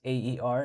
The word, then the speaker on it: Aer: And again, the brand is AER, it's spelled Air.